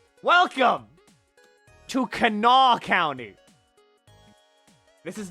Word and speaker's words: Kanawha: Welcome to Kanawha County.